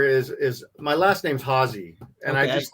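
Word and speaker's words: Haase: too good enough but oh you got it hausey yeah it works yeah and then we got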